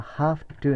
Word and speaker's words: have to: をつけてねこれは Half to になるからね HALF ハフあら Half to て感じこんな感じかな have to to 要すに F の発音ねハフはね V はほらだけども弱くなるとになるわけよハハハね have